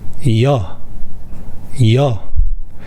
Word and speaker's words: ㅕ: “yacht” “yacht” “ya” “ya” “ㅕ” sound is similar to “yeo” sound from “young”. “young” “young” “yeo” “yeo” “ㅛ” sound is similar to “yo” sound from “yogurt”.